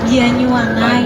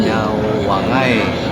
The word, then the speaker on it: Banyuwangi: Jadi kalau orang Banyuwangi sendiri bilang Banyuwangi itu Banyuwangai. Banyuwangai. Seperti itu.